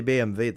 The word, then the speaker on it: BMW: If I say BMV, they're like, "What the is that? What's that?" You know, that's the German way to pronounce it. That's how you pronounce it. BMV. That's how you pronounce BMW.